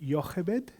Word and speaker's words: Jochebed: How do I pronounce the scholars here? Is it Jochebed, Moses' mum?